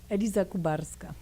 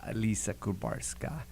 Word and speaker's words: Eliza Kubarska: Did I pronounce that right? Say it for me. Eliza Kubarska. Eliza Kubarska.